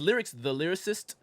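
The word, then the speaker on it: Lyriqs Da Lyricist: So it's lyrics the lyricist, but it's spelled because it was like everybody named lyrics. I got to differentiate. Right. So it's LYRIQS DA.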